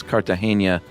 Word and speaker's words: Cartagena: My last name is Cartagena, like the city in Romancing the Stone.